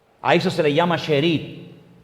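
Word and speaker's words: שארית: Miren, la palabra remanente en hebreo es una palabra que se pronuncia sherit. Vamos a ver. Esa es la palabra en hebreo. Esa palabra se pronuncia sheerit.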